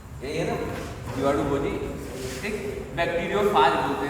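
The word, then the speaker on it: bacteriophage: जीवाणु, बैक्टीरियोफाज बोलेंगे। फेज नहीं बोलते, यहाँ पे फाज बोलते हैं, ठीक।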